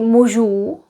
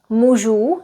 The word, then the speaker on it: mužů: Pronouncing the long vowels is important, making sure that we pronounce them a little bit long.